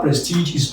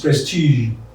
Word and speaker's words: prestige: garage they call this prestige it's not prestigious prestige so we have trail